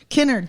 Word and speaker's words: Kennard: Kennard, thank you.